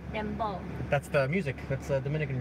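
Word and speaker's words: dembow: Dembo. Dembo.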